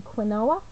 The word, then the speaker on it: quinoa: So often people say, do you mean quinoa? And it's pronounced quinoa.